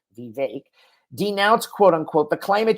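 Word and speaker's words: Vivek: answering it okay but Vic VI is how you pronounce it like cake vake denounced quote unquote the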